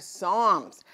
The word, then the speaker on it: Psalms: It's the one with the silent letter that it starts with. Do you remember? Right. It was the book of Psalms.